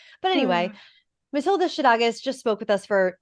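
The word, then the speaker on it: Matilda Szydagis: We just recorded an almost 2-hour interview episode with Matilda Shadagas, who now I'm going to say her name correctly. I was saying Zittigis before, but that's what Google told me.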